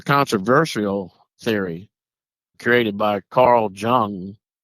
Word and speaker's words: Jung: theory created by Carl Jung if I'm pronouncing it jun n g jung yep that's correct He called it collective unconsciousness.